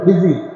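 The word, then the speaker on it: خضر: হযরত মূসা আলাইহিস সালাতু ওয়াস সালাম আর হযরত খাজির আলাইহিস সালাতু ওয়াস সালাম, খিজির নাম শুনছেন না? খিজির, আপনারা বলেন খিজির, আরবিতে খা জা ইয়া রা শব্দ আসছে। খাজির উচ্চারণটা হচ্ছে কি খাজির। তা আপনারা খিজির খিজির বলেন, আমিও খিজির বলি।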